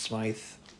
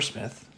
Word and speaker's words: Smythe: Smith is pronounced Smythe or Smith. Smythe, S-M-Y-T-H, like Y as in why is my name spelled like this?